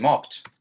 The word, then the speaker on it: mopped: However, if I just add ed, now it's moped. Moped. And I don't want it to be. I don't want it to be moped. I want it to be mopped.